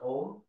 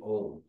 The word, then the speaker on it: Om: syllable own yeah yeah the OM we we always say om it's a very religious word and then they say it has it's it's made of a u m and it has a